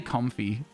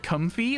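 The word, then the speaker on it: Comfey: instead of comfy I I would say comfy for for that one but it's probably com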